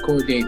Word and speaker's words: Cordae: It's Cordae now. That's a fact. You don't need to use all the extra syllables and letters.